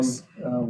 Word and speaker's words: Demopolis: They said it that again. will get narrowed down Demopolis. later today. That's how you say it.